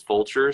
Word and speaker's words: Vulture: perfect so yeah so culture actually rhymes with my last name which is vulture so I I did